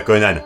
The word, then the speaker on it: Conan: a au passage oui le générique prononça konan mais les dialogues le prononce conan donc reprenons ce conan